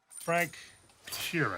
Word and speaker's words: Sheeran: Frank Sheeran.